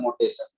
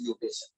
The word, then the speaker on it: mutation: बोला जाता है म्यूटेशन, लेकिन आदमी सब म्यूटेशन प्रोनाउंस नहीं कर पाता तो इसलिए बोल देता है मोटेशन। वो मोटेशन नहीं होता है, एक्चुअली इट इज म्यूटेशन।